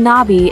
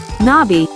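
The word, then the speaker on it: 나비: the beauty of nature pronouncing Nai involves a soft elongated n Sound followed by a brief by let's practice together Nai great job to remember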